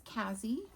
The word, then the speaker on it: Kazzy: If you're new, my name is Kazzy. Rhymes with snazzy but starts with a K.